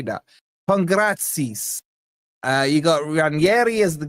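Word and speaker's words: Pongračić: Then you got Pongrik. How do you say that? Pongratsis.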